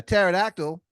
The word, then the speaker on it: pterodactyl: never hear a a pterodactyl use the bathroom he goes because the p is silent he goes on to